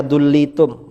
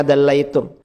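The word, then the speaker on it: دلّيتم: Seandainya kalian menurunkan, ini si Wahabi tadi bacanya dullitum, mestinya dallaitum.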